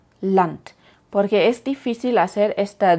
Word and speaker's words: Land: La D al final de palabras y sílabas incluso puede sonar casi como una T, de verdad una T alemana, como en Land, Land, porque es difícil hacer